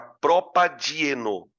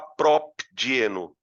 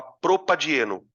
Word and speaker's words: propadieno: Aqui no meio, eu vou colocar uma letrinha A para melhorar a pronúncia da palavra. Fica propadieno, para você evitar o encontro consonantal, tá? Isso também é um detalhezinho da regra. Então você não vai falar propdieno, você vai falar propadieno. Você não vai falar butdieno, você vai falar butadieno.